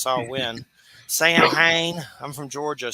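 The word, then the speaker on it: Samhain: some creepy saw win I always say sam Hayne that's not how you say it it's saw win Sam Hayne I'm from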